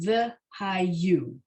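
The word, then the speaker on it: וְהָיוּ: So the yud and the vav with the dot in the middle, right, is the consonant, is the syllable that sounds like you. So v'hayu. And the way I say it, v'hayu, I feel like I'm blurring the middle syllable with the yud starting the final syllable, but they're really separate.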